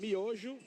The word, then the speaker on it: Miojo: Brooke, we pronounce it Miojo.